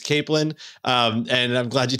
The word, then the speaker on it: capelin: to be talking about Northern Cod and capelin pronounced it properly right you did is it I did okay before I was saying Kaplan it's capelan um and I'm glad you told me it's